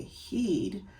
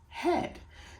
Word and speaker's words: head: Phonetically, it does say heed, but what's that thing on top of your neck? Oh, it's a head. Oh, right. So that's a silly word. It's a sight word. It says head.